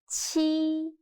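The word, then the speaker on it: qi: next one is chi chi sounds similar to the first sound of cheap but when pronouncing your tongue should be more flat and also you need to stretch your mouth to two sides now listen to me carefully and feel the difference cheap chi read after me chi good job the last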